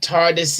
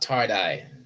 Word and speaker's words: TARDIS: and you have daleks tardis now tardis is constant not tardy i know then i